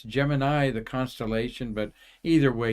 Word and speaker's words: Gemini: what NASA used and they called it Gemini like Jiminy Cricket it's Gemini the constellation but either